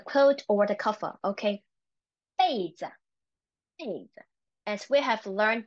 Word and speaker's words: 被子: Don't let our personal belonging 被偷了 okay, 被偷了 The second one, 被子, 被子.